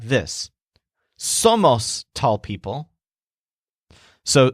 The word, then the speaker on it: somos: comes out like this so most tall people so somos means we are and it sounds kind of like some of us remember to stress the syllable that is som so it's somos now before moving on